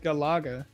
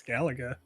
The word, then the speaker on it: Galaga: Alex what just happened what you said Galaga my brain went no that's Galaga didn't I say G